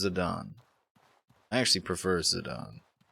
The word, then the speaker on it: Zidane: was like oh oh it's just an Italian name and I was pronouncing it like an American zardane yeah it is it is pronounced Zidane I actually prefer Zidane